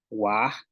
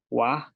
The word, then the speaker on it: waaj: Tenemos wedge, que es armadillo, wah. Aquí este, a ver, permítame, wah, que sería tortilla. Hay una pequeña equivocación aquí. Wah, que es tortilla.